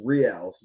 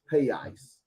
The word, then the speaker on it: reais: I know in America, I pronounce it as reals, but I think it's reais because the R makes the H sound, so it's reais.